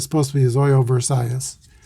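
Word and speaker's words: Zoilo Versailles: figure in the decision here's the pitch to zoilo zoyo versailles versailles that's looked up the pronunciation and it's supposed to be zoyo versailles 2 26 is a swain of s4 versailles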